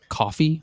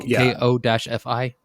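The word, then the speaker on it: Ko-fi: I think it's pronounced coffee, like like the drink ko- fi.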